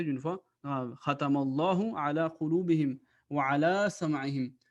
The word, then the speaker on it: ختم الله: So it means that the name of Allah will be pronounced with a thick voice. Khatamallahu. Khatamallahu ala qulubim.